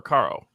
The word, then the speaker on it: Caro: you pronounce his name is it Cairo or Caro Caro Caro like the syrup I think yeah it's